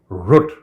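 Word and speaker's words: Rutte: how to pronounce it I looked it up on Google there is this gutl sound when the hungarians pronounce it and when the Dutch pronounce it it's probably root I don't know how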